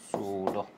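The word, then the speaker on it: pseudo: configuration Nobel gas configuration সুড ওইটা মনে হয় তোমার ওই যে বায়োলজিতে পড়ছো তাই না বায়োলজিতে পড়ছো এভাবে উচ্চারণ করে সুডো ঠিক আছে সুডো নোবেল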